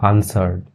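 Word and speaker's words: answered: आंसर्ड, ठीक है, इसमें देखा ना आपने, डब्लू जो है वो साइलेंट होता है, ठीक है, आंसर्ड, ठीक है, आंसर नहीं बोलते कभी भी।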